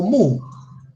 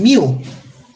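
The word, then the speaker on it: μ: Entonces, tenemos que símbolo griego que se pronuncia como mu. Mu. Hay otra gente que lo pronuncian miu. También le dicen miu. Vamos a ponérselo. También lo pronuncian como miu. Y ese símbolo griego representa la media aritmética poblacional.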